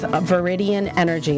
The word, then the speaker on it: Viridian: I'm your host, Nicole Perry, and my guest is Roxanne Pappas, and she is with Viridian Energy.